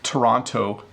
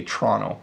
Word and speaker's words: Toronto: Notice when I say Toronto, I pronounce it really clearly, but when I speed up, I say Toronto.